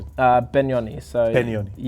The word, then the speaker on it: Penioni: Uh, Benoni. So, Beni. Yeah. You pronounce the the P as a B. B. Benonyi.